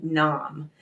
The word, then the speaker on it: Nam: it's pronounced sat and then n m that's pronounced Nam and the way I want you to use